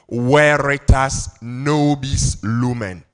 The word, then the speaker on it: veritas nobis lumen: Kofi, he says we should pronounce it in academic Latin, so the V will sound W, right? So, veritas nobis lumen.